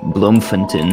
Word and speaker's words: Bloemfontein: It's Bloemfontein. I think that's how you say it. Bloemfontein.